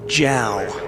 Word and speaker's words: JAL: And as I remember, he said the correct pronunciation for JAL is JAL. And I've never heard anybody call it that.